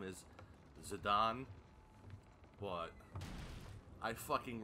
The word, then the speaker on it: Zidane: and that is our main character the actual pronunciation of his name is zidane but i refuse to call